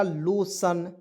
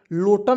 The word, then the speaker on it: lotion: LO से लिखेंगे लो, TION को क्या पढ़ेंगे, सन, तो हो जाएगा लोशन। लोटन नहीं पढ़ेंगे, बहुत लोग लोटन पढ़ लेता, नहीं, लोशन मीन्स लोशन ही होता है, ठीक है।